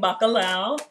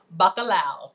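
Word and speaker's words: bacalhau: at our last yes we're making baccalau am i saying it right yes you are bacalao look at that it's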